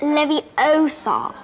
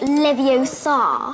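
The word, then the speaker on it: Leviosa: someone's eye out besides you're saying it wrong it's Levy Oar not Levi Oar the helper personality maybe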